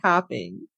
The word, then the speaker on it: Copping: my name again copping yes tapping it's the a the o sounds like an a and um the reason